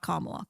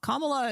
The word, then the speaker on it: Kamala: Not Kamla. Kamala is actually how Indian Indians pronounce it.